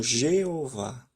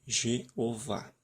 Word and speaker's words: Jeová: nós utilizamos como Jeová eu digo forma Latina porque a língua hebraica não usa o som do J aqui seria i i eov e não J eles não nenhum uma letra na língua hebraica tem esse som de J nenhuma tem esse som somente na nossa